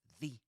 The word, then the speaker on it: the: He says the, right? The with a short e sound, just like at the end of happy. And the question is why? Why he does that? And the answer is that right after it comes a vowel sound, right? The vowel sound at the beginning of umbrella.